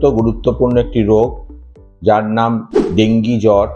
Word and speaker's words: ডেঙ্গু: সাথে একটি অত্যন্ত গুরুত্বপূর্ণ একটি রোগ যার নাম ডেঙ্গি জ্বর বা ডেঙ্গু জ্বর সেই সম্বন্ধে দুই এক